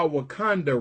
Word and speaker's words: Wakanda: And if you're wondering why Wakanda rhymes with Uganda, if you're wondering why